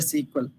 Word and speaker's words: SQL: clear here sql language so people will come pronounced as a sql sql also they can pronounce or else we can pronounce as a sequel sequel or sql also